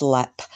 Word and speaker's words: Leap: have been held at lep castle it's it's spelled leap but it's pronounced lep um in southern ireland